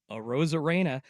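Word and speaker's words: Arozarena: right I practiced I I've now heard the Mariners announcers saying it over and over again so I now know how to say it a Rosara all right he did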